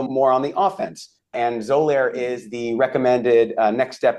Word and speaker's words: Xolair: And that's Zolair. And let me spell that for people because it's a little complicated.